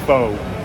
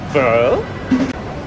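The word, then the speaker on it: phở: You guys might know it as fo, but it's actually pronounced fur.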